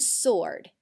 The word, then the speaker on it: sword: you know of with the silent w how about the word sword and wreck what others can you